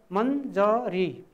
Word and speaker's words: मञ्जरी: त्यसै गरी मञ्जरी, यहाँ तपाईँहरूले देख्नुहुन्छ य अक्षर छ, आदि य छ, तर त्यसको उच्चारण मन आदि न हुन्छ, मञ्जरी मञ्जरी मञ्जरी यसरी उच्चारण गर्नुपर्ने हुन्छ।